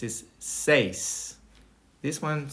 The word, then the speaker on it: seis: Number 6 is seis. This one, some people have difficulties with it, so you break it in half. You say se and then is, and then you put it together.